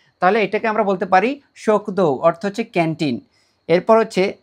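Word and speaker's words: しょくどう: শোকদৌ, এটা হচ্ছে যুক্তবর্ণের শো।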